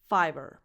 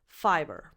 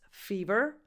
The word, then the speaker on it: Fiverr: And then they added an extra R just for the sake of it. But it changes nothing pronunciation-wise. Fiverr. Because if you pronounce this fever, you're actually saying number 10, fever.